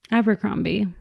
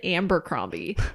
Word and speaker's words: Abercrombie: parents abercrombie really so my mom always called it amber crombie and so did alex's dad oh interesting which i thought was really interesting because it's like that's not even how it's spelled so like how are